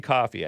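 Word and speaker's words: Ko-fi: slash the hake report that's how I'm pronouncing it it's supposed to be coffee I think spoiler alert gave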